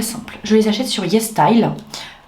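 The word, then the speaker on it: YesStyle: Je les achète sur Yes Style. Ça s'écrit comme ça se prononce, Yes Style.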